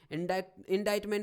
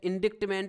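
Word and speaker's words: indictment: इंडाइटमेंट में सी है जो साइलेंट है, इंडिक्टमेंट या इंडाइटमेंट नहीं है ये, इंडाइटमेंट DIT ओनली, सी इसमें साइलेंट है, इंडाइटमेंट।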